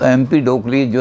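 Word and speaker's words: Empedocles: रखने में कठिनाई होगी एमपी डो क्लीज और ग्रीक में जैसे लिखा जाता है कि ई पूरा उच्चारण किया जाता है तो लिखा जाएगा एंपीडोकल्स सी एल ई एस पढ़ा जाएगा एमपी डोकली तो इन्होंने कहा कि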